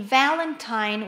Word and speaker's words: Valentine: In Valentine will be the first.